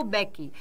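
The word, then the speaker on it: Mbeki: उनका नाम था थामो बेकी यहां एम जो है वो साइलेंट रहता है प्रोनंसिएशन का बहुत ध्यान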